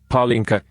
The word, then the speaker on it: Palenque: Palenque, Spanish pronunciation Palenque, Yucatec Maya B'aak AK,